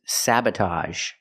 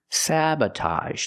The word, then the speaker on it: sabotage: word is sabotage sabotage same sound with ag g a a sabotage the first syllable is the short a like black cat SA sabba the second syllable is relaxed uhuh Sab sabotage sabotage is not countable sabotage